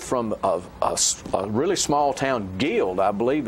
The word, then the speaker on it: Guild: And they were both from a really small town, Guild, I believe it's how it's pronounced, G-U-I-L-D, which is on the river.